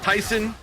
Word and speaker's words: Tyson: ago I learned is pronounced Tyson uh like the chicken.